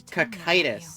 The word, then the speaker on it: Kitus: Kitus used to Kitus is how it's pronounced.